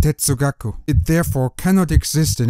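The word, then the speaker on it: 哲学: The correct Chinese term for philosophy, 哲学, is a late 19th century import from Japan, where it is pronounced tetsugaku.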